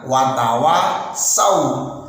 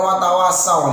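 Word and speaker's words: وَتَوَاصَوْا: Nah, itu bacanya wa tawasaw. Ada yang baca watawasau. Nah, ini tidak dibenarkan. Kenapa? Karena merubah yang awalnya huruf shad diganti menjadi huruf sin. Ini tidak dibenarkan sama sekali.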